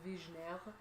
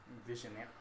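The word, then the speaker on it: Vigenère: pronounced Vigineer. Vigineer.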